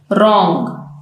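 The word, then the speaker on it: wrong: रॉन्ग, गलत। इन सब letters में आप देखें, वर्ड्स में आप देखें कि जो डब्ल्यू का लेटर है वो साइलेंट है।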